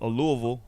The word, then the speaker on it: Louisville: Because in Louisville, or Louisville, as the locals say, right?